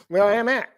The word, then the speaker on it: Willamette: used to No fish one in pronounces the it like Willamette that. River. You messed it up again. Willamette.